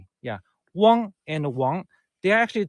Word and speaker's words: Wang: It's the second tone. Wang. The third tone is Wang. Well, the fourth tone is Wang. Wang, Wang, Wang, Wang. 4 different intonations.